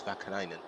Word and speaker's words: Vakainen: I keep saying it's a name wrong. It's Vakainen.